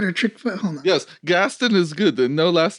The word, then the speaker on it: Gasten: And Mama Sass, this elegant woman here, and this dignified fellow is Gaston. Am I pronouncing that correctly?